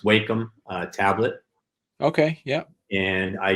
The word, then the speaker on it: Wacom: and I use I think it's pronounced Wacom tablet.